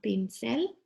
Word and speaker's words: pincel: Depending on what it's used for, this kind of a brush might be called un pincel. Pincel, I know it sounds like pencil, right?